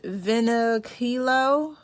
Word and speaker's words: Vinokilo: So this post again is by it might be pronounced Vinokilo, but again, that's spelled VINOKILO.